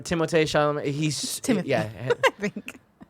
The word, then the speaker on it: Timothée Chalamet: Timothy Chalamet or whatever, Timothée Chalamet.